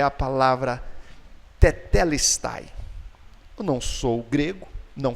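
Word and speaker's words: τετέλεσται: Na verdade, a gente traduz como está consumado, mas a palavra que ele pronunciou em grego é a palavra tetelestai.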